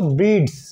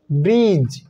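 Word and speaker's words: bridge: এখানে যদি ডি লেটারটি উচ্চারণ হতো তাহলে এটার উচ্চারণ হতো ব্রিডস এখানে ডি লেটারটি উচ্চারণ হয়নি এজন্য উচ্চারণ হয়েছে ব্রিজ অনুরূপভাবে নলিজ গ্রাজ hedge wedge plays sledge sludge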